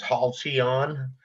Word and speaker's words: Halcyon: No, maybe just a pronunciation of the road name, which is Halcyon.